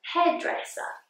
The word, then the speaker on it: hairdresser: hairdresser a hairdresser now this one has the schwa at the end hairdresser in english hairdresser if you work in